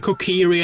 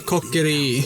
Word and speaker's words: Kokiri: No, they're saying Kokiri and not Kokeri. They're innocent. I've never heard anyone say Kokuri. Yeah, because that's a Japanese pronunciation.